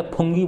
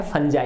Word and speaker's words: fungi: तो जो एनिमल्स हैं और जो फंजाई, अब देखो इसकी स्पेलिंग होती है FUNGI, मैं इसको पहले फंगी बोलता था जबकि इसका सही उच्चारण क्या है, फंजाई, है ना, फंगी नहीं